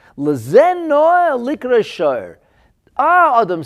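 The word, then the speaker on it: שור: And when you put the shin, vav, and reish together in that fashion, spelled out as shin, as vav, and as reish, and pronounced as shor, then you get an ox.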